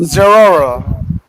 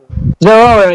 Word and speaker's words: Zeraora: So, but however, it's exclusive to I forgot how to pronounce his name. The Zerora. Zeraora.